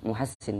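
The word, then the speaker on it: محسّن: Bidomil mim, Muhassin itu dengan dibaca dhammah mimnya, wa fathil ha'i dan fathahnya ha, wa tasdidis sini dan tasdidnya sin, al maksroti yang dikasrohkan. Muhassin bacanya.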